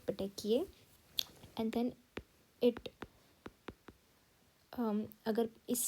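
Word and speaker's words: petechiae: PPE stands for P stands for सबसे पहले बनते हैं पटेकिए आई pronounce it like this पटेकिए and then it अगर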